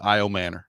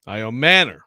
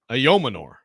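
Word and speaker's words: Ayomanor: So, I've seen it is now I've I've got the Stanford pronunciation guide and Notre Dame together. So, it's double doubly sourced. I Manor. I Manor. Yeah. Not Amanor. Correct. Okay. I Manor.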